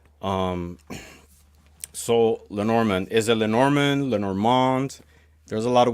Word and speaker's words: Lenormand: Um, so Lenormand, is it Lenormand, Lenormand? There's a lot of ways to pronounce it. It's Tomato, tomato. yeah, Lenormand is the French way, and Mademoiselle Lenormand, Madame Lenormand.